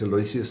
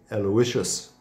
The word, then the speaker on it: Aloysius: sent Aloysius was but it's not Saint Aloysius of course it is Saint Aloysius said Aloysius Gonzaga who is a